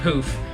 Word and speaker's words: Pooph: of that popular product I call it poof but they say it's poof I think it says